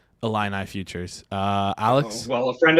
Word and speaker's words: Illini: Yeah, isn't it, what Is that a, Illini. is it, did I pronounce Illini? it's Illini, yeah.